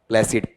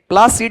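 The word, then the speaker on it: placid: प्लेसिड। प्लासिड है या प्लेसिड? प्लेसिड। यहां तक आपने देखा है नंबर 25 वाला।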